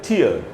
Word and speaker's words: tear: लेकिन यही वर्ड जब नाउन की तरह इस्तेमाल होगा, TEAR जब नाउन की तरह इस्तेमाल होगा, तो जब मीनिंग होता है इसका आंसू, तो इसका उच्चारण हो जाएगा टीयर।